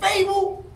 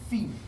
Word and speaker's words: Febou: They said, Fable? I said, said his fucking name is Febou. You better say it right.